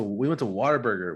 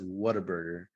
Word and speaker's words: Whataburger: go to Whataburger, and no one says Whataburger. They say Whataburger. Like almost like you're saying water, but if you say it right, it's not water.